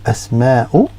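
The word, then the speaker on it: أسماء: Okay, and when you pronounce it, it's like a glottal stop, so it's like you've got a hiccup, and used to referring to females. So here, which is so asma'u, asma'u.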